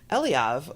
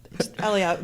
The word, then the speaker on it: Eliav: Eliav, but I've heard it on your podcast pronounced Eliav, but that's not. He puts the emphasis on the first syllable.